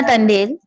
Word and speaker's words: Tandel: It's Tandel.